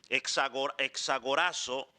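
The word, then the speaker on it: ἐξαγοράζω: Y la primera palabra es exogorazo. Hexagorazo. Pronúnciala así, pues, hexagorazo.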